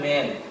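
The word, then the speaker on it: mane: आपने देखा कॉन्सोनेंट ए पुनः कॉन्सोनेंट, लेकिन ये कॉन्सोनेंट जो ए के बाद आएगा वो आर नहीं हो और लास्ट में ई लगा हुआ रहे, इस ए का उच्चारण हो जाएगा ए, सिर्फ एक ठो वाला ए। जैसे आप देखेंगे एम ए एन ई, फिर से आप देखिए एम ए एन ई, इसका उच्चारण होता है मैन।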